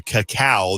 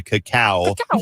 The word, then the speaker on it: cacao: We went on a tour of a chocolate farm where they actually grow the cacao. That's how you say it. The cacao.